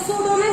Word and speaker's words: pseudonym: तो सूडोनिम की स्पेलिंग की अगर हम बात करते हैं तो सूडोनिम की स्पेलिंग PSEU होता है। सूडोनिम PSEUDONYM।